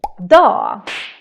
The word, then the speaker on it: dag: Another very common thing we do is to skip or to ignore the G's in the end of words. For example, in the word day, dag, and you can hear this